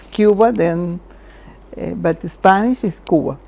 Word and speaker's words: Cuba: Is it Cuba or Cuba? In Spanish is Cuba. In Spanish, then is but English pronunciation is Cuba.